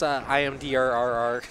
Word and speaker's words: Imder: It's actually pronounced IMDRRR. IMDRRR, right. Gotcha. You need to pronounce all the R's.